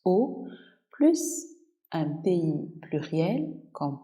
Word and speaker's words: aux: O, A, U, X. Aller plus la préposition AUX qu'on prononce O plus un pays pluriel,